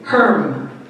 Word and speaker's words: Herm: Gerhard g e r h a r d Herm h e RM and he was very interested